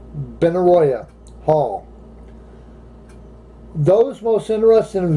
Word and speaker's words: Benaroya: the triple door and Benaroya Hall though Benaroya that's a large name if I spelled it right or pronounced the right B and a are a B and a are Oh Y a Benaroya Hall those most interested